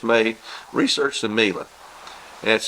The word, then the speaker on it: Miele: available, regardless of where it's made, research the Miele. That's spelled M-I-E-L-E.